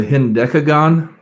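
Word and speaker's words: hendecagon: this this show um an 11-sided polygon is a hindekagon there are other names for it but this is the only one where you could lay an egg on the first syllable uh the iranian geometer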